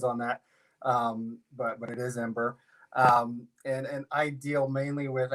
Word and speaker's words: Mbur: We get all kinds of pronunciations on that, but it is Ember.